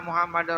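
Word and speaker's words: محمد: Anna Anna Muhammad Muhammad ada tasjidnya di huruf mim Muhammad jangan Muhammad Muhammad Makanya kalau Nabi Muhammad ditulis ke dalam bahasa Indonesia mnya dua karena di tasdid Muhammad ya kan Muhammad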